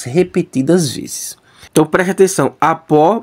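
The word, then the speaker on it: ἀπό: Então preste atenção, apó mais ruiu, né? Apó, ruiu, essa é a pronúncia.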